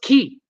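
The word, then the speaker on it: cay: indeed Robert Brent yes key is pronounced key CA Y is pronounced key and that's just the way it is okay there you go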